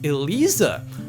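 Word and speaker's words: Eliza: So, Tekken 7's vampire name is pronounced Elisa.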